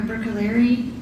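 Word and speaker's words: Bruccoleri: Can you please state your name and spell it for the record? Sure. It's Dr. Brookaleri.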